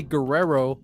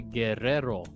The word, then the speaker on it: Guerrero: Don't say Guerrero, say Guerrero. It's like, I don't know, man. I gotta use the R's, the Guerrero.